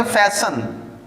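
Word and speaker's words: fasten: अब ये फास्ट था, इसमें EN लग गया, इसे फास्टर नहीं पढ़ना, इसमें T साइलेंट है। इसे आप पढ़ेंगे फैशन, फैशन्ड, बंद होना मजबूती से किसी चीज का, ठीक है।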